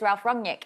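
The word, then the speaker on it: Ralf Rangnick: beats and that's because ralph wrongnik it looks like i keep trying to pronounce that correct in the german sound right close enough it's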